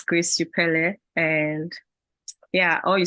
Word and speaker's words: Upele: So I guess you got the pronunciation correctly. So it's Grace Upele, and yeah, all you said about me is